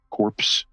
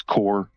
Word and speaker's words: corps: It's spelled core like how the Marine Corps is is spelled. So, it's c o r ps corpse, but it's core, the camel corps, the Marine Corps, you know.